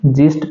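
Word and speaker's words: gist: जस्ट पढ़ेंगे।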